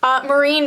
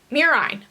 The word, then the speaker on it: murine: Marine model. Is that a rat? I think that's mice. Mice or related rodents. Okay. So in a marine model, is that how I pronounce it? Murine.